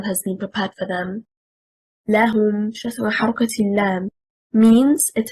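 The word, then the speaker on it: لَهُمُ: The stress is on حركة الهاء. Why? Because here it is an affirmation lam plus a pronoun hum. If we say لهم المنصورون, لهم stressing on حركة اللام,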